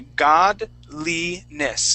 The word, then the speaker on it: godliness: that one more time we're going to say god lee-ness godliness godliness godly godliness godliness godliness all right make sure